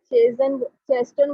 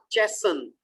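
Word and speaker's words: chasten: फिर टी बोल रही हैं आप, टी तो उसमें लिखा नहीं हुआ, दोबारा बोलें। चेस्टन। चेसन।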